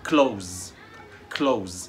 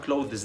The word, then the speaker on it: clothes: النطق الصح ملابس يعني close. والخطأ هنا ان احنا عندنا حرف TH بتنطق the، والاس الاي اس في الاخر ناس كتيرة بتنطقها is، يبقى بيقولها clothes، لا، احنا هنقولها close، ملابس.